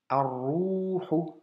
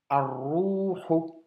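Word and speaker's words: الروح: Tiens, shedda encore. Shedda, solaire. Donc, liaison. Arruhu. Arruhu. Tu vois? Liaison. Le lem s'écrit mais ne s'entend pas.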